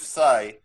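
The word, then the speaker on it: Tsai: man his name is joseph sai but spelled funny it's spelled with the t his last name you think psy have no but start with t so t s a i joseph said oh that's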